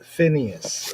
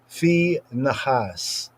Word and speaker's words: Phinehas: Who is Phinehas? In the English pronunciation and some pronunciations, Phinhas, Phineas, has the meanings, translatively speaking, of mouth of brass, mouth of copper / brass.